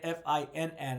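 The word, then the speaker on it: Phin: her name correct and her name is Finn but it's spelled p h i n so the misspelling my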